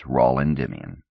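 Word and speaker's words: Raul Endymion: two my name is rolandimian my first name rhymes with Paul I was born on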